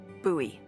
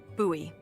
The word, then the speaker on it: Bowie: no warning he pulls out this huge Rusty Bowie KN it's actually pronounced buoy what no it's like the last name like David Bowie no different last name buoy are you just messing with me no that's